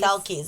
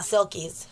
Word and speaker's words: selkies: Oh, okay. Selkies. It's not Silkies.